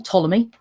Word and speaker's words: Ptolemy: with the weird name Ptolemy now he's the one begins to the P doesn't look like it's fit that she pronounced Ptolemy but it is and he also believed